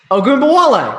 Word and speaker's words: Ogunbowale: Ogunbowale. Right. All right. I'm losing a syllable in there.